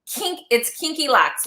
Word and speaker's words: Kinky Locks: it's kinky locks, like kinky hair.